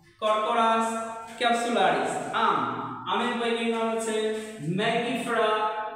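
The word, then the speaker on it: Corchorus capsularis: এরপরে পাটের বই নাম হচ্ছে কররাস ক্যাপসুলারিস। কররাস ক্যাপসুলারিস।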